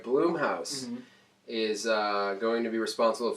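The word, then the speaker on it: Blumhouse: how to pronounce it is it Blum house or bloom no bloom pops all right bloom house is going to be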